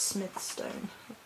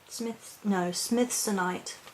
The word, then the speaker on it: Smithsonite: Additionally, I'm holding on to my, I think it's pronounced Smithstone. Just have a look in the book. Smithsonite. Sorry, I'm not with it. I'm holding on to my Smithsonite today.